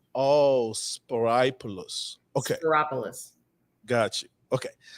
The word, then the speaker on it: Spyropoulos: Spyropoulos. It rhymes with metropolis. Oh, Spyropoulos.